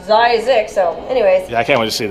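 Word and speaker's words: Zzyzx: I heard it's pronounced Zykes. No, it says Zizix at this, like, the guy who founded it. Right. There's a little thing that he drew up. It says, pronounced Zizix.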